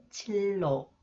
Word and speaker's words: 진로: see some example sound When The final consonant neon is followed by new is pronounced lear 오케이 실랑 실랑 질로 진로 인류 인류 관리비